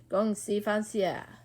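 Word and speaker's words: 恭喜发财: It is pronounced like this: Gong Xi Fa Xia.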